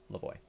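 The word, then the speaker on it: Lavoie: so it is um uh maurice lavoy uh lavoy is spelled a l-a-v-o-i-e lavoy well is there a trash can next to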